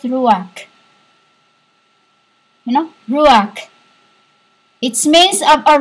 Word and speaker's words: Ruach: I don't care how you pronounce it in your world. I say it RUACH.